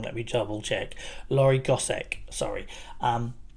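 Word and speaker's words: Laure Gossec: day I must ADM that session by um laori gos did I I'm I'm worried I keep pronouncing people's names wrong let me double check lorri gosek sorry um it's been a long week um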